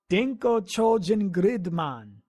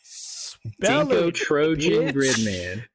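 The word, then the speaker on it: 電光超人グリッドマン: In Japanese, Gridman the Hyper Agent is called Denko Chojin Gridman. Dinko Trojan Gridman. Dinko Trojan? Denko Chojin Gridman. Chojin. Okay. Spell it, bitch.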